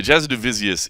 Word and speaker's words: Jasudavicius: By the way, Jasudavicius is the proper pronunciation of her last name, so they were saying it right on there.